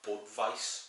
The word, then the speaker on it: Budweis: Republic, of which there's quite a few, is pronounced Budweis.